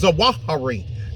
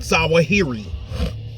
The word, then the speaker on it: Zawahiri: the way all of that's the way all the Iraqis and the Kurds pronounced it so I say it the way they say it I'm an Al zahari not zahiri they would know better